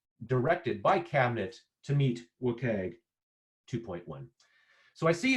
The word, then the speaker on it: WCAG: So that's how all of the requirements in WCAG, which is how we pronounce the Web Content Accessibility Guidelines, are organized.